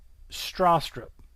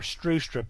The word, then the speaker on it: Stroustrup: Now, in 1980, I'll try to pronounce this, Bjarne Stroustrup, okay, or Strustrup is the way he pronounces it, I believe, but keep in mind, what you just heard is the Middle Tennessee pronunciation of this name, and no doubt I